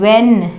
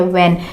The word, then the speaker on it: when: इन spellings में और H को पढ़ा नहीं जाता, इसे हम when ही पढ़ते हैं, when।